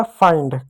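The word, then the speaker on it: find: एफ आई एन डी है। तो आई के बाद क्या? एन डी है तो आ प्लस ई पढ़ेंगे तो एफ का फ होगा आई का आ प्लस ई होगा और एन और डी यानी दो कांसोनेंट एक साथ है तो पहले वाले कांसोनेंट को हम आधा लिखेंगे तो आधा न डी का पूरा ड हो गया फाइंड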